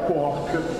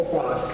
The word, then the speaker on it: quark: particelle molto strane che chiamiamo quark o quark, a seconda se volete la pronuncia inglese o italiana.